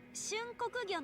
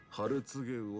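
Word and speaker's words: 春告魚: お客さん、それはね、春告げ魚って読むんですよ。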